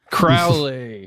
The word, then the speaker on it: Crowley: Rhymes with Owly. Oh, Aleister, our boy Allie. Crowley.